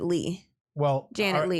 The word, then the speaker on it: Leigh: I would pronounce it Lee.